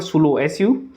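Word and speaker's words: Saulo: president का नाम है डॉक्टर स्लो सलो सालों या सालों ऐसे करके प्रोनाउंस करते हैं ओके और इसका जो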